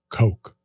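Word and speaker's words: Koch: person on YouTube commented it's actually pronounced Coke JL yep that's the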